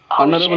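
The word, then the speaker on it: honourable: भी ठीक अच्छे जेहेतु ऑनरेबल मीन्स कौन प्रोनाउंसिएशन कौन हो ऑनरेबल हो माने ओटा ये साइलेंट हो 7 नंबर क्वेश्चन रे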